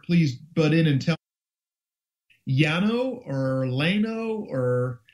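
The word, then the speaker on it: Llano: you or different please butt in and tell Yano or loo or it's l l n o Texas it would be Yano yeah Yano I was gonna say the dou L has always been pronounced as a y as far as I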